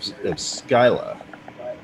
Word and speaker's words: Scylla: I'd say common pronunciation is probably Scylla if you're going with the reference to the Greek monster, Sure.